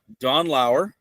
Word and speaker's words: Lauer: Well, welcome, Don Lauer. Am I pronouncing that correctly?